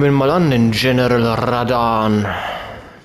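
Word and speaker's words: Radahn: Also, dann gehen wir mal an den General Radan. Mit dem rollenden R. Das ist ja nicht mein Ding. Er wird ja so ausgesprochen. Uff.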